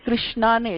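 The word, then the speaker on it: कृष्ण: இப்போ நம்ம இங்கிலீஷ்ல கிருஷ்ணான்னு எழுதுறோம், KRISH ன்னு எழுதுறோம்ல, அது தப்பு.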